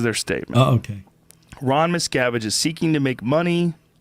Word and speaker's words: Miscavige: What's the correct pronunciation? It's Miscavige? No, Miscavige.